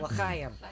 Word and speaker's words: L'chaim: Say it right, L'chaim.